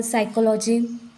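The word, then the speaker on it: psychology: silent हो जाता है फॉर एग्जांपल साइकोलॉजी साइकोलॉजी में यस के पहले यहां पर जो पी है यह है साइलेंट वर्ड साइलेंट लेटर उसका हम प्रोनंसिएशन साइकोलॉजी से कहते हैं फिर साइकेट्रिस्ट यहां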